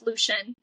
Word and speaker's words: Lucien: I do hope she ends up with um I hope I hope I used to say Lucian. I heard that the correct pronunciation is Lucian.